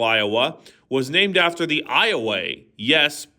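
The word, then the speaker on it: Ioway: The Iowa River, which defines much of east central Iowa, was named after the Iway. Yes, it's pronounced Iway Indian tribe.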